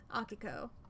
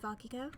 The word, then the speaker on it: Akiko: I was just like, I'll just say it like it's a Japanese word. Akiko.